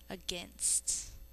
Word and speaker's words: against: We say against, but we think to spell A-G-A-I-N-S-T. A, N, S, T. I don't have enough fingers. Against. Spell against with me. A-G-A-I-N-S-T. Against.